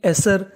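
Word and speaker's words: Acer: ए सी ई आर, इसे तो पढ़ेंगे ए। सी ई आर सर, क्या पढ़ेंगे? सर। तो मीनिंग बनी एसर। बी आई बी, टी वाई, टी वाई को पढ़ते हैं टी। तो पूरी मीनिंग क्या बनी हमारी? एसरबिटी, ए सर बिटी, एसरबिटी।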